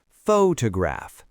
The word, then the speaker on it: photograph: The stress is on the first syllable. Photograph. So the first O is a clear, strong O sound. The other two syllables are unstressed. So they both get reduced to a schwah photograph.